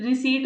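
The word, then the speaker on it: receipt: रिसीट में हमारा P silent होता है।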